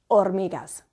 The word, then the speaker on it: hormigas: yellow we say yellow the H is always silent if you see some little ants running along the floor they're never hormigas they're always ormigas muy versus mucho now